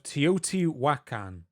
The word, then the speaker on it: Teotihuacan: So this is the city of Teotihuacan.